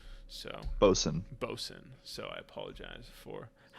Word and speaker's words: boatswain: and i've seen a a chat that says boatswain is pronounced bosun so bosun bosin so i apologize for i know right